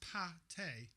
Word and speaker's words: pâté: It's pate. Let me just see. Duck pate. It's bloody Russian anyway. Can of duck pate. Oh. Right, let me just have a look here. What is pate? Pate, pronounced pâté, is a rich, savoury